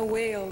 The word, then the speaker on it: Weil: Então, você estava comentando ontem, antes sobre meu nome, como que pronuncia... Eu estudei sempre em escola americana, que se pronuncia whale, né?